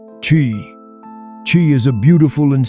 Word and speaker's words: Chi: They called it Chi, pronounced Chi.